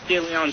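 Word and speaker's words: De León: Yeah, I love the way that you kept the original Spanish pronunciation. I guess he was from southern Spain.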